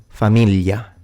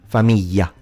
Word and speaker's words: famiglia: of the word, but in general, the GL will be pronounced as a lie sound in standard and as a Y in southern accents. Let me give you examples. Tagliatelle, figlio, famiglia, maglia, gli, which is